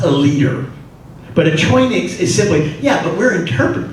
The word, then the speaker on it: choinix: The term for leader in the Greek is a choinix, C-H-O-I-N-I-X, which is not obviously the Greek letters, that's how you pronounce it, which is roughly